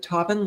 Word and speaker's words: Tobin: Is it Tobin? Like Robin?